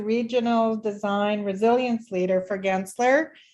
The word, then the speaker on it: Gensler: So Steve Painter, who's the Regional Design Resilience Leader for Gensler, or is it Gensler? Kind of like GIF and GIF. I'm not sure. Hard G. Gensler? Yeah.